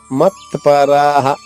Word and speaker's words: మత్పరాః: సో సన్యస్య మత్పరాః, మత్పరాః. మా తర్వాత ఉన్న అక్షరంలో తా ప, తా పుల్లక్షరం, పా పూర్తక్షరము. రా దీర్ఘంగా పలకాలి. రా హ అక్కడ 2 సున్నాలు విసర్గ, దాని ఉచ్చారణ ఎప్పుడు హాలాగే ఉంటుంది. రాహ.